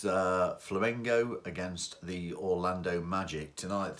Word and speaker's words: Flamengo: So, before we go any further, I'm sure you'll enjoy the mispronunciation because so far I have referred to Flamengo as both flamenco and flamingo.